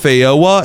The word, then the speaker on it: feijoa: Okay, I just searched it up and apparently this is pronounced Fyoa and then Loqua.